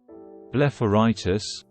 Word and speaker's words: blepharitis: Blepharitis, pronounced Blepharitis, means inflammation of the eyelid.